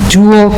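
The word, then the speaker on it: Joule: for the program is dual community power that's spelled j-o-u-l-e like the energy unit there are two pieces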